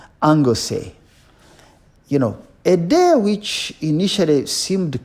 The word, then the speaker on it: Anglesey: I think that's how they pronounce it in the Welsh language. Anglesey.